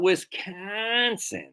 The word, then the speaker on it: Wisconsin: so whisk conon not Wisconsin now that's not how we talk in America we say Wisconsin so try that to